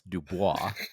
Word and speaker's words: Dubois: We've got Dubois. That's Dubois.